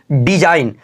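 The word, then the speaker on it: design: डिज़ाइन क्या बोला डिज़ाइन एन से पहले आया जी हमारा बिल्कुल क्या होता है साइलेंट होता है इसका उच्चारण बिल्कुल नहीं होता है जीकर याद रखिएगा इसको क्या पढ़ेंगे डिज़ाइन अगला एग्जांपल है रेजिन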